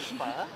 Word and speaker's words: phở: Pho.